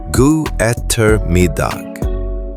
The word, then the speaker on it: god ettermiddag: God ettermiddag, good afternoon, pronounced god ettermiddag.